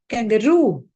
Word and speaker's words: kangaroo: It's not kangaroo, it is kangaroo. The stress is on roo.